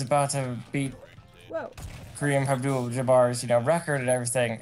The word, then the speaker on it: Abdul-Jabbar: gonna impress you no I was born again Abdul jabard is that how you say his name Kareem Abdul-Jabbar oh I like they were doing this whole